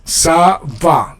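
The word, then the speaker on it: ça va: And you pronounce it with the S. Savva.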